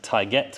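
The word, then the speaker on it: Taigete: Coming around the side, we've got the 23-inch, I believe they're pronounced Taiguette wheels or Taiguette wheels, in gloss black.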